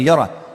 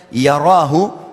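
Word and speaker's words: يره: Siapa yang buat seperti biji sawi dari kebaikan, yarahu, dia pasti akan diperlihatkan atau melihatnya. Wa may ya'mal mithqala dzarratin syarran yarah. Kalau diberhentikan bacanya yarah, tapi kalau dibaca langsung yarahu.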